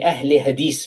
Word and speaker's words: Ahle Hadith: And so the Ahle Hadith movement, I pronounce it the way they pronounce it, because they want to go back to the Ahlul Hadith of the past.